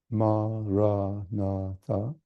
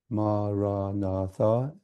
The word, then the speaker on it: Maranatha: And thirdly, the length of the word, the 4 syllables, makes it easier to say it rhythmically, maybe with your breath. Many people will say the mantra with their breath. So they might breathe the word in silent, saying the word as you breathe in, Maranatha, and breathe out in silence. Or you may say the first 2 syllables, Ma-ra, as you breathe in, and Na-tha as you breathe out.